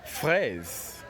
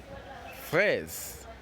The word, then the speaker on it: phrase: pronounce the word first how many sounds can you hear in this word yeah with show for sure it's simply one sound and so the word phrase has just one syllabus well done again